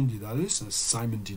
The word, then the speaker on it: Dedalus: C'est construit principalement autour d'une chanson qui est jouée au piano par le père de Stephen Dedalus, par Simon Dedalus, si je le prononce à l'anglaise, qui est chantée, dont